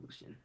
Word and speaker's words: Lucian: But I think you say his name, Lucian. Yeah, I would say Lucian.